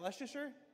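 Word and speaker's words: Leicester: Is that Lester? Lester.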